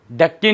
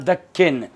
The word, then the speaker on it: दक्षिण: दक्किन, point क्या है, दक्किन, दक्किन नहीं होता, ये होता है दक्षिण।